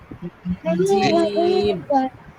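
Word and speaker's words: جيم: একজন আসলে বলি জিম ওরকম বলতে হবে জিম জিম শব্দ শক্ত করে জিম জিম জিম জিম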